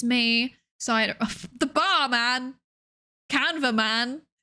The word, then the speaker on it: Psydere: It's pronounced Psydere, not Psydere. Please don't call me Psydere. It's Dere. Like Sundere or Dere or Yandere.